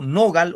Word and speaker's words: nogal: Digo nogal o nogal. Nogal. En gal. En la A, profesor. En gal. Aquí, ¿no? En gal. Por algo dice nogal. La sílaba gal. Ahí va. Claro, nogal. Gal, ahí, ¿ya? El acento va en gal.